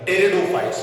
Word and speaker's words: pteridophyte: टेरिडोफाइट नहीं बोलते बेटा, T से स्टार्ट होता है, इसमें P साइलेंट होगा, P से स्टार्ट होगा, मगर जब हम नाम पढ़ेंगे उसमें T का साउंड पहले हम निकालेंगे। टेरिडोफाइट्स, P साइलेंट हो गया है।